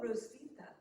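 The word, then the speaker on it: Hrotsvit: Rosvita. Oh, Rosvita. Yeah. That's easy to pronounce. You just ignore the H.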